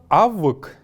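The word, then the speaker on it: авьг: Слово «авык» — высокомерие. «Авык». Еще раз повторим их все, сидя перед своими экранами. «Авык». Не «авг», а именно «авык».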